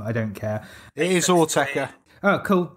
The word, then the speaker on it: Autechre: I can't pronounce the name, I don't care. It is Autechre.